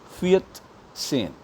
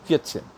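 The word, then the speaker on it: vierzehn: It will be Fiat sane. You stop there. Fiat, if you really want to pronounce it nicely, you have to stop at ta, half ta.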